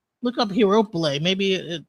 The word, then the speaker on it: Herophile: And her name is Heropyle. That's how you say it? Okay. Heropile. Yeah. Heropyle. Oh no, it's Herophile.